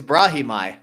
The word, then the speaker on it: Brahimaj: It's Brahimaj.